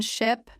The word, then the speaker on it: ship: In ship, the mouth is more relaxed. Short sound. In sheep, the sound is longer with a slight smile. If you stretch ship too much, you may accidentally say sheep.